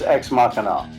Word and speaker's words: Ex Machina: How do I pronounce this? That's Ex Machina.